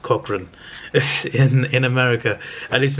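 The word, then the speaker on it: Cochrane: robbed off on him um but yeah it's pronounced Cochran but like I know a guy and I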